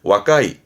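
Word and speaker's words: 若い: 발음은 와까이, 와까이.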